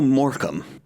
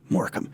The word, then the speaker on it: Morecambe: so moram moram uh it is an interesting pronunciation for the spelling for for me of just not being familiar with a word that is pronoun spelled that way and pronounced um that way is it's something that